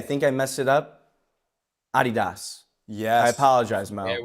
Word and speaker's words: Adidas: It's Adidas, Gino.